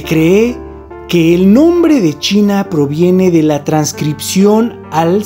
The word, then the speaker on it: Qin: Se cree que el nombre de China proviene de la transcripción al sanscrito Sina, del nombre de la dinastía Qin, pronunciado Chin.